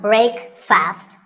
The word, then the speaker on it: breakfast: 16 how would you say it the proper pronunciation is not break fast it's breakfast break with a short a sound